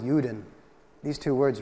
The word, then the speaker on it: Juden: In German, it's Ruden. It rhymes with Juden.